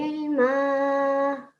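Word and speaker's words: علما: And the next one, remember the Ain. Rabbi zidni ilma. Ilma. Can you say that for me? Ain. So the sound has to come from the back of your throat.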